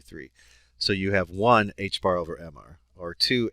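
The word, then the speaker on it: ħ: this they got tired of writing two Pi H bar that's how it's pronounced is h / 2 pi so instead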